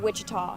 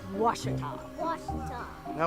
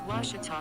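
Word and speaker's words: Ouachita: for wasita Baptist University back in Texas everybody pronounces it Witchita but really it's was was how would you pronounce it it's was Baptist University get it right it's wash people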